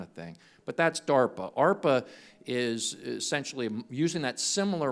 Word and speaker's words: ARPA-E: is an agency called arpa-e for Advanced Research Projects Agency energy and ARPA rhymes with DARPA okay which is the